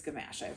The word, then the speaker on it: Gamache: I do really feel that the Gamache series, it is Gamache. That's how Louise Penny pronounces it.